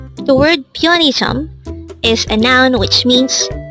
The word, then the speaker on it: 편의점: first syllable is a third syllable is Jump pronounce it with me pione the word pianism is a noun which means convenience store again